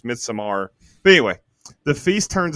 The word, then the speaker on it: Midsommar: So Midsommar is actually how Ari Aster pronounces it. Midsommar.